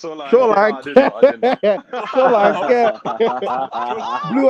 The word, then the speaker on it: Solanke: Solanke. I didn't know. Solanke. Blue eyes. It's pronounced like Who's that, yeah.